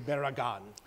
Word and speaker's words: Barragan: And our guest today is Henry Barragan. Did I pronounce that right?